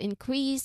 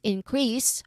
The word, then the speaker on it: increase: So the first version with the first syllable um being stressed increase we're talking about growth. While the other one increase second syllable stressed it's a verb.